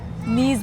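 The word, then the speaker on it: Nice: चलिए दोस्तों अब हम आपसे मिलेंगे नीस में और नाइस लोग जा रहे हैं नीस। पता नहीं उसे कैसे ना चीजें। नीस के स्पेलिंग बिल्कुल नाइस जैसे होते हैं।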